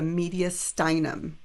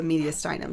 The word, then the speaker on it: mediastinum: And then this guy right here is called the mediastinum.